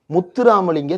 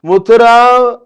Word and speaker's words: முத்துராமலிங்கம்: சரி திருப்பரங்குன்றமாவது கஷ்டமான வார்த்தை முத இது ஏதாவது புரியுதா முத்துராமலிங்க தேவர் இது வந்து நவுன் இதை உச்சரிக்க தெரியணும்ல முத்து common name. Ram common name லிங்கம் காமன் நேம் முத்துராம் லிங்கம்னாவது சொல்லிருக்கலாம் முத்துராம் முடியல மித்ரோன் மாதிரி இருக்குது முத்துராம் அப்படின்றது முத்துராமலிங்கம்ன்ற வார்த்தையே சொல்ல தெரியாத